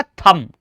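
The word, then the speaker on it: thumb: ऐसे ही टी एच यू एम बी तो आप इसे थंब थंब थंब नहीं बोलेंगे। बी साइलेंट रहेगा। चुप रहेगा क्योंकि ये एम के बाद आ रहा। तो ये क्या हो जाएगा? थंब only थंब।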